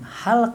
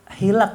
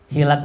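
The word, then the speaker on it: حِلَق: kata muridnya Guru itu bukan halq itu hilak bacanya hilaq itu jamak dari halaqoh Apa arti halaqoh majelis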